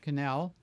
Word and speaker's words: Cannell: Sean Cannell, I'm sorry, I mispronounced. His last name rhymes with channel, like YouTube channel. So his last name is Cannell.